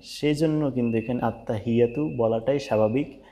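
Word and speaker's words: التحيات: সেই জন্য কিন্তু এখানে আত্তাহিয়াতু বলাটাই স্বাভাবিক। এই হায়ের উচ্চারণটা কিন্তু হবে হি, এরকম ফ্যাস ফ্যাস করে একটা শব্দ হবে হি।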